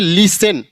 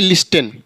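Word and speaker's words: listen: है ऐसे यहां देखिए लिसेन एल आई एस टी ई एन लिसन ना कि लिस्टन ऐसे यहां फसन रेसल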